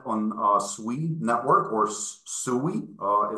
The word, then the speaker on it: Sui: our test net on uh sui Network or sui uh it's pronounced sweet written soie um and um so